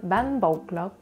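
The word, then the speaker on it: bánh bột lọc: Mais c'est un thé. C'est un thé, mais ça se prononce pas tant. Ban bột. En vietnamien, on appelle ça ban bột lauc.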